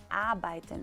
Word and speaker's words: arbeiten: ejemplo, al inicio, pero cuando la R es después de una vocal, o sea, después de A, tú dijiste arbeiten, muchos dicen arbeiten o arbeiten, no, casi no se pronuncia porque es después de una vocal. Se hace como muda.